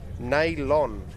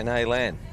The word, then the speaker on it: Naylon: Naylon is how you pronounce it. What did I say? Naylan? Yeah, so Naylon.